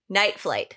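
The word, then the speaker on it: Nightflyte: out their band it the band name is spelled n-i-t-e-f-l-y-t-e night flight night flight night life they're saying el they're saying l-y-f-e before we were before we were making that hashtags you know no it's night flight oh night flight did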